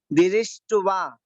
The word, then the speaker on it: दृष्ट्वा: तो इसको इस तरीके से पढ़ेंगे, दिरिष्टवा, दिरिष्टवा भयम भवति नो भव दाशितानम, दाशितानाम, दाशितानाम।